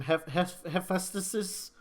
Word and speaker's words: Hephaestus: as, I can never say this god's name, Hephaestus. Hephaestus. I Hephaestus. only know how to pronounce it because in 7th grade I had to do a report on it.